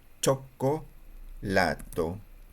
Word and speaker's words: cioccolato: Y chocolate se dice casi parecido, pero se escribe diferente. Cho, co, choco, chocolato. Chocolato. Recuerden que hay una doble letra, así que aquí hay una pequeña pausa que tienen que decir, ¿ya?